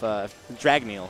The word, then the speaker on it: Dragneel: If Dragneel, yes, that's the correct pronunciation.